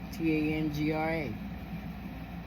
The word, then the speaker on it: Tangra: certificate the lady was like how do you spell that so I was like t a n g r a she said t a n d r a